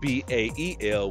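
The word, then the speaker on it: Bael: And then another way you can see it being spelled and pronounced is B-A-E-L, which is Ba-El, right?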